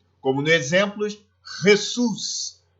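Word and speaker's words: Jesús: Bom, la J, né, o J, terá sempre som de RR, como no exemplo Jesus, jamás, Jesus, jamás, sempre vai ter o som de RR.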